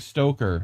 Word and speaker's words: Stoker: in mint press Greg Stoker have to make sure I really pronounce his name right stoker not with an extra R got to remember that